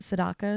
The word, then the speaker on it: Sedaka: she was dating Neil Sedaka is how you pronounce it Sedaka Seda she was dating Neil in high school